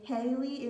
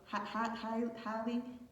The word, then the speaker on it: Hallie: Hey everybody, special keep back another reading, and this is going to be a a Haley and wait no Hallie and DDG reading. I think I pronounced her name wrong.